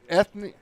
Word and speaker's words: Ethne: It's Ethne. It should be Ethne.